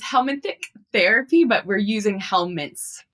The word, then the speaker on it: helminthic: So it's helmanthick therapy, but we're using helmets for it.